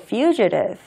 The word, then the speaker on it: fugitive: 도망자는 우리가 영어로 fugitive fugitive라고 발음을 합니다.